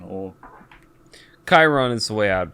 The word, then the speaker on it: Chiron: Also, how do you pronounce, or Sharon, or... Chiron is the way I'd pronounce Chiron.